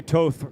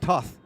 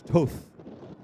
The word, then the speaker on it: Toth: Ronnie Toth rhymes with both. Gotta remember that. Pneumatic device. It's not Toth, it's Toth. Very Scandi. Very Scandi.